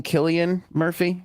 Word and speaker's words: Cillian Murphy: Cillian Murphy?